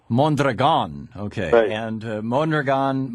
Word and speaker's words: Mondragon: do you pronounce Mondragon with the accent on the last syllable Mon that are gone okay and Mon are